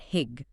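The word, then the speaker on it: hygge: They call it hig. Hig. How do you spell that? H y g e. Hig.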